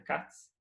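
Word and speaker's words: Kac: Agora, no entanto, tem tem um matemático que chama Mark Katz, escreve Kak, mas se eu não me engano pronuncia Katz.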